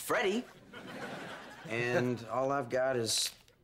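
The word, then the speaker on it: Freddie: Band-Aid how about you Frito it's pronounced Freddy and all I've got is 70 bucks I've got 30.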